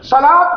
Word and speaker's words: صلاۃ: پڑھنے میں نہیں ہوتا۔ جس طرح صلاۃ بھی صاد لام واو تے ہے لیکن تلفظ میں صلاۃ ہے، زکوٰۃ زا کاف واو